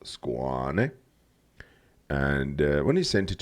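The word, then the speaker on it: Skåne: Yes, it's pronounced Ostergotland, just like the skein is actually pronounced Squane.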